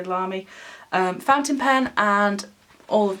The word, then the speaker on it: Lamy: This is a Lamy, however you want to pronounce it, I would say Lamy, fountain pen, and all